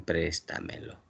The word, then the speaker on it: préstamelo: se convirtió en prestamelo. La mayor fuerza de voz está en la tras ante penúltima sílaba. Es una sobresdújula.